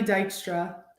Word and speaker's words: Dykstra: name how do you say that uh Dykstra awesome I love it so 17 years old